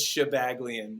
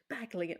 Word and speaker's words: Shabaglian: It's Shabaglian. You did great. Shabaglian.